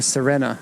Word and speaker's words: Serena: Nissan Serena, or Serena is how it's pronounced here.